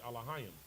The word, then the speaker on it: Elohim: The proper pronunciation is Elohim.